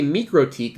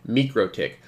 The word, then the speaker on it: MikroTik: pronunciation is mikrotik however the official pronunciation technically it should be me crow tick um I might say